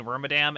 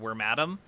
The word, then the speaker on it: Wormadam: I've been kind of bouncing back and forth lately between Wormadam and Wormadam. It's based on the word madam, so it does make sense to say Wormadam the most, probably, but it could be the other one, too.